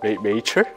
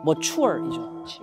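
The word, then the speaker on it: mature: 메이처? 메이처? 머추얼이죠. 영어 보세요. 같은 철자인데 앞에 자음 하나만 바뀌었는데 완전 발음이 확 달라지죠.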